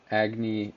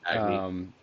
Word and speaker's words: Agni: And So also Agni, Agni. Okay. that's how it's pronounced in.